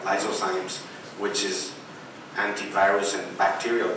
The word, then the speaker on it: lysozymes: The cervical fluid has lysozymes, you pronounce that like that, lysozymes, which is antivirus and bacterial too.